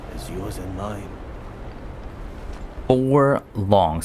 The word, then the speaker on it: long: Four long. So I've been saying loong, which never sounded right, but I think I will now adopt long. as the correct pronunciation, but he's saying there's 4.